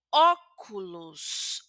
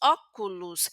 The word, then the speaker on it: óculos: Y aquí en la segunda palabra también les pronunció como óculos. Óculus. Esta o también es como una u porque la palabra termina en o.